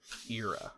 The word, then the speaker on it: Era: Era. Okay. Like, ear.